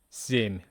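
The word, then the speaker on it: семь: And three times sh seven sim sounds like almost like sim, right?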